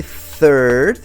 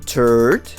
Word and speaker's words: third: and say another word right if you say third is the number but if you say turd you're saying poop ah be careful careful there